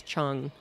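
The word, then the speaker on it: Cheung: a Chinese friend whose last name was Chong and um it's like c h e u n g and uh a lot of people would mispronounce that but as far as let's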